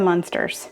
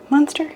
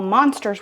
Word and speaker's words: Munster: So I thought all monsters were called Munsters. So I know this is pronounced Munster, but I want to say monster because my mom would correct me all the time.